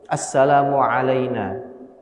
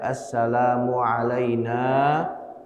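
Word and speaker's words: Assalamu 'alaina: Assalamualaina. Dibaca pendek. Assalamualaina wa ala. Harusnya nanya itu dibaca panjang. Assalamualaina wa ala ibadillahis shihin.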